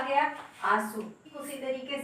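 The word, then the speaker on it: आँसू: अब आप आंसू को आंसू नहीं कह सकते, आंसू को इसका भी जो है प्रोनाउंसिएशन आपका उच्चारण जो है आपका नाक से ही हो रहा है, क्योंकि चंद्र बिंदी लगी हुई है।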